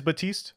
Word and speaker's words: Baptiste: I see this role support batiste it is batiste okay cool batiste wields an assortment of experimental